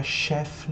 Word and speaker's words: chef: só uma curiosidade tá chefe é uma palavra de origem francesa por essa razão se utiliza a pronúncia Francesa e nesse caso ch